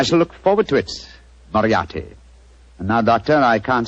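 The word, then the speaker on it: Moriarty: the way it looks m o r i a t y mariati mariati I shall remember that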